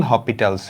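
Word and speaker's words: L'Hôpital: আজকে আমরা যেটা পড়বো সেটা আসলে অন্তরীকরণ না, সেটা আসলে এল হপিটালস রুল। এই এসটা আসলে হয় না, বাট উচ্চারণের সময় মানুষ মাঝে মাঝে পড়ে।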